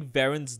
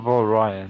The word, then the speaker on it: Varen: Typing Varen's name doesn't let you know that it's pronounced Varian. it's Varen. I'm not Valryan. Holy shit, am I far back? Alright. Is it Varen? It's Varen, yeah.